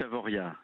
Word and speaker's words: Avoriaz: Allez, dites Avoria. Allez, Avoria, c'est noté et je ne me tromperai plus jamais. Il y a un Z, mais on le prononce pas.